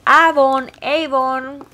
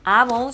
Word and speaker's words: Avon: Nosotros en Venezuela le decimos Avon. Sé que en México le dicen Avon. Y sé que en Estados Unidos se le dice Avon porque así se pronuncia en inglés.